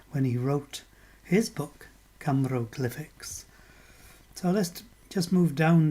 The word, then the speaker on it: Cymroglyphics: Camero as in Cymru, glyphics as in hieroglyphics. And some of us will know that Ross Broadstock coined the phrase when he wrote his book, Camero Glyphics.